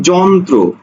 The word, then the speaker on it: যন্ত্র: না উচ্চারণ হয় যেমন দেখো একটা শব্দ আছে কি যন্ত্র জন যন্ত্র না যন্ত্র জন জদন্ত জন তর ফলা ওকারে ত্র যন্ত্র ঠিক আছে জন ত্র অর্থাৎ এখানে দীপ্ত ফিত্ত কিচ্ছু হবে না শুধু অফলাটা উচ্চারণ হবে দেখো কেন্দ্র কেন্দ দর